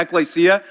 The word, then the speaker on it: Ecclesia: So welcome to Ecclesia. That's how you say it, all right?